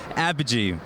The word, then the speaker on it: Apogee: Apogee.